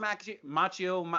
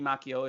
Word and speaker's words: Macchio: star in any case ralph mc machio it should be macchio if he knew how to pronounce his name correctly in italian but he was dope